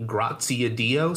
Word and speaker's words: Graziadio: It's pronounced the Graziadio School.